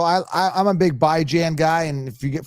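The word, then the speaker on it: Bijan: So, so I I I'm a big by Jan guy and if you get for you people that haven't heard, I call him by Jan. By as in bi-weekly, Jan as in rand by Jan.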